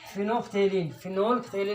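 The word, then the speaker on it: phenolphthalein: फिनोल्फ्थेलिन और फिनोल्फ्थेलिन नहीं बोलेंगे, एल साइलेंट है इसका, फिनोल्फ्थेलिन और दूसरा मिथाइल ऑरेंज।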